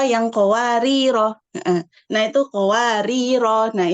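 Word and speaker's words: قواريرا: qawarir Heeh nah itu qawarir nah itu ada tiga cara bacanya ituar jika berhenti di ayat 15 eh di ayat 15 rnya dibaca panjang kemudian jika dibaca wasal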